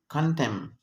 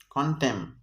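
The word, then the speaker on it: column: کله چې ان په جملې په اخره کې د ام نه وروسته راشي نه تلفظ کینی، سایلنټ خاموشه وي. اگزامپل اوټم، کنټم، کنټم. اوټم، کنټم. دې کې د اخري ان سایلنټ دی، خاموش دی،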